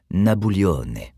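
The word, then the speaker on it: Nabulione: durant ces premières années on l'appellera nabullio ou prononcé à l'italienne nabouone ses proches en raison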